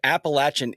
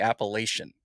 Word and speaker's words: Appalachian: looked it up and apparently Appalachin is the correct pronunci pronunciation like all the way through. Mhm. But it's just a regional thing up here that we call in the Appalachian.